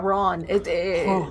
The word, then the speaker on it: Rouen: Rowan? Yeah, Ron. More Ron. nasally. Rowan. But, you know, because you roll the R and then you get the vowel garbage.